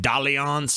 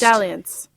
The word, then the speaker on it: dalliance: that a word does that pronounce like da liang's or some I gotta check